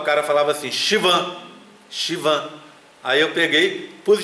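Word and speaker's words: Schwann: palavras que eu olhei, porque Shivan, se você escreve, e se você pega uma pronúncia inglesa, não fica Shivan de jeito nenhum. Eu vi uma professora falando Shivan e achei super estranho, falei, Shivan, Shivan, achei até engraçado, né? Aí fui olhar e a pronúncia é Shivan mesmo.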